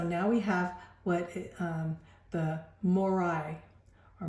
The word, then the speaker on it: Maurya: And so now we have what the Morai, or Mora, pronounced right, Mora Empire.